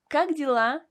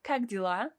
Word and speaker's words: как дела: Do you want a great tip on how to remember the expression как дела? I say, how are you in Russian, Vince? Cock dealer.